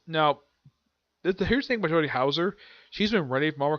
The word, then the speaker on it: Houser: I used to call her Jody Holster. But I finally pronounced the name right. It's Jody Houser.